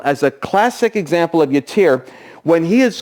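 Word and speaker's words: yattiyr: because the Hebrew literally says he had a yatir. We pronounce it this way, but it's Y-A-T-T-I-Y-R.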